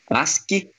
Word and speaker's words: ASCII: Finalizando aqui com o código ASCII II, ASCII, como é a pronúncia geralmente feita, ele representa o American Standard Code for Information Interchange.